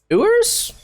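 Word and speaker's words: Ewers: in 2022 commit uh quarterback quinn oohers i think is how you say his last name um he wants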